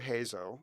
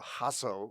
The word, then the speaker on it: Hazo: So we ate apple pie and we drank coffee and doc, it's Dr. Hazo or Hasso is the more accurate like Lebanese pronunciation.